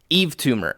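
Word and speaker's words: Yves Tumor: it was hype but it wasn't hype hype Eve tumor if you guys have not heard Eve tumor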